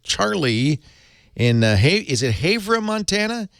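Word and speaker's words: Havre: to call and Charlie in Hy is it haa Montana Haver Montana Leo leaport The Tech Guy good afternoon Leo hey Charlie how you pronounce that h h a v r e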